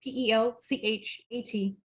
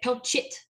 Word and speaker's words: Pelchat: And it's spelled exactly like it sounds. Pelchat. I get Pelchit a lot.